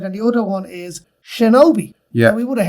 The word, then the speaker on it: shinobi: Like, it would have been pronounced Shinobi.